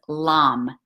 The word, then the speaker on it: lam: it's red color, and the mantra we recite for this chakra is lam, l a m, but pronounced l u m.